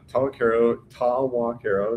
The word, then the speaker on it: Tawakaro: Tawakaro is how you pronounce it. It's a Caddo Nation word. It means bend in the river. It's how we would pronounce it.